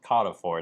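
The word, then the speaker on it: Carrefour: Jor but I think in French it's Kor it's like a French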